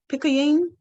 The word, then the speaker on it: Picayune: His work in the area of divorce has been featured in the Times Picayune. Ooh, I'm pronouncing that all wrong.